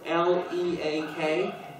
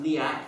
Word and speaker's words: Leak: That is a liak, a traditional type of witchcraft from Indonesia. Okay. The liak master, and it's spelled L-E-A-K, but it's pronounced liak for some reason. Instead of leak.